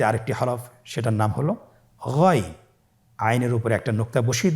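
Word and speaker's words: غين: এভাবে উচ্চারণ করা যাবে না, যেহেতু হরফটি মোটা, এই জন্য মোটা করে উচ্চারণ করতে হবে গইন।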